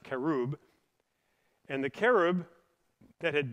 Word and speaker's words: cherub: And so then the glory of the Lord of Israel ascended up from the cherub, or the kerub, Remember, cherub is their English pronunciation, but it's pronounced kerub.